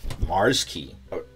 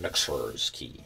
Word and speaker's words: Mxrskey: out that Mars key I read somewhere that that's that's how it's supposed to be pronounced because before I was doing mixers key I didn't know but the x is supposed to be a replacement for the a Mars key so so this is